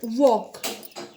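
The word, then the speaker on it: walk: First वॉक, L is a silent letter.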